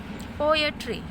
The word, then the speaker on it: poetry: Po, when you pronounce po, you put stressed, that's why it is stressed. At, unstressed, and re, unstressed.